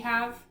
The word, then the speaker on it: have: Our other 2 words that we have, our other word that we have to underline is another word that starts with an H. And it's that word that does not follow the silent E rule.